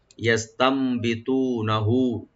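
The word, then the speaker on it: يستنبطونه: ইয়াস্তামবিতুনাহু, ইয়াস্তামবিতুনাহু ইয়াটাকে open করে পড়বেন। আর মাঝখানে যে নুন আছে নুন সাকিন, নুন সাকিন পরে যেহেতু বাড়ছে এখানে একলাপ হবে, নুন সাকিনটা মিম সাথে চেঞ্জ হয়ে গুণ সহকারে পড়া হবে। ইয়াস্তাম, ইয়াস্তাম বিতুনাহু, টু একালে টানবেন ডিপ করে, হা একালে টানবেন লাস্টে,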